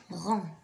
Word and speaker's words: rang: Rang. Alors? Qui se prononce pas. Donc la lettre G ne se prononce pas.